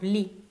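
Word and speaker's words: לי: The first letter here and the last letter together, we have li.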